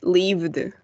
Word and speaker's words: lived: Esto va a sonar como una T. Worked. Y en este caso va a sonar como una D. Lived.